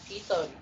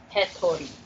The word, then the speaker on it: Hitori: Yeah, Hitori, not Hetori. I don't know what Hetori means, to be honest. It doesn't mean anything because that's not how you fucking pronounce it.